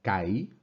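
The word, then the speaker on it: καί: Kai, lo pronunciamos Kai. No obstante, escribimos el acento sobre la I.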